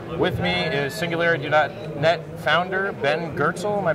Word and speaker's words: Ben Goertzel: With me is SingularityNET founder Ben Goertzel. Am I pronouncing that right? That's right, Ben Goertzel.